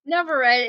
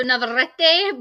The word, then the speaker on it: Navarrete: Her name is Navarrete. Did I pronounce that correctly? Navarrete. It's the double R's in Spanish, so Navarrete, but I Oh, go by Navarrete.